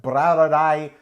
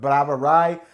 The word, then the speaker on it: Brouwerij: this is bradae west that's a b-r-o-u-w-e-r-i-j that is the dutch word for brewery it sounds nearly identical to the german bra although they do have slightly different pronunciations all albeit spelled differently but brava rai west